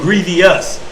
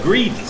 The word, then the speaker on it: grievous: See, bro said we be saying grievous. It's not. It's just grievous. There's no E in it.